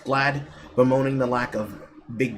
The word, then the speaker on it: GLAAD: gay agenda, reacting to a GLAAD report, pronounced GLAD, bemoaning the lack of big gay characters in video games and describing the report as heartbreaking.